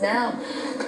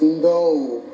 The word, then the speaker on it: Ndou: Actually, it's pronounced No. Sorry? It's pronounced No. No, oh, sorry, man. No, that's all right. Everybody calls me Ndou.